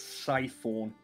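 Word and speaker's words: Sephek: Just real quick, I did mispronounce his name. According to the pronunciation guide, it's Siphon. Siphon.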